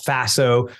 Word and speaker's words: FASO: And FASO, I call it FASO, kind of rhymes with lasso.